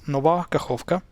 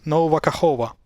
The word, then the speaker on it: Nova Kakhovka: So we have this city in Ukraine that's pronounced Nova Kakhovka. That's how you properly spell it. Nova Kakhovka. Of course, everybody and the mother in the US media calls it Nova Kakhova.